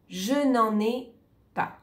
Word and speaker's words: je n'en ai pas: Je n'en ai pas. Ici, on doit tout prononcer ensemble au début. Je n'en ai pas. Il y a deux liaisons, attention, je n'en ai, on va le dire ensemble.